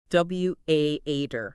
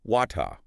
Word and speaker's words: water: So it sounds like veggie almost rhyming with ladder or daughter. Beijator. This is very common across North America. W Aater.